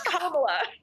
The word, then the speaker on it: Kamala: It's Kamala, and it means lotus in Hindi.